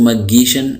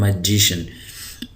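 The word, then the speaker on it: magician: मैं कह रहा हूं इसको मशन मशन नहीं पढ़ रहा इसको पढ़ रहा हूं मैजिशन तो मैजिशियन कहते हैं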